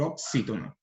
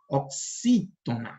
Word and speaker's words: oxítona: A última sílaba é NA, é na. A penúltima é tu. E a antepenúltima é xi. Então, é oxítona.